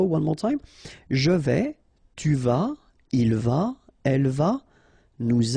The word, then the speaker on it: tu vas: Tu vas, final S not pronounced. Tu vas.